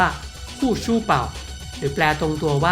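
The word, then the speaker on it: 护舒宝: มัน ผ้า อนามัย วิสเปอร์ ที่ ออก เสียง ภาษา จีน กลาง ว่า คู่ ชู่ เป่า หรือ แปล ตรง ตัว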